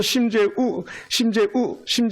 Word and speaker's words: 심재우: 이응 하나가 떨어졌어. 그래서 심재우 선교사님 강력하게 발음해야 돼. 심재웅 하면 제가 되는 거고.